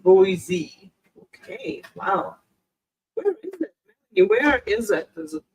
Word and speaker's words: Boise: I like like the rolling go easy it's pronounced Boise okay wow where is it what country is